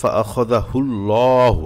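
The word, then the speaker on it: فَأَخَذَهُ ٱللَّهُ: দেখুন এখানে ফাআখাযাহুল্লাহু, এখানে আল্লাহ শব্দের প্রথমে পেশ আসছে, এজন্য ল পড়তে হবে, মোটা করে পড়তে হবে। আবার লামে খারা জবর আছে, এক আলিফ টান দিয়ে পড়তে হবে।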